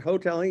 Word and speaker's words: Houtling: Lance Houtling's dad, he pronounced it hoteling.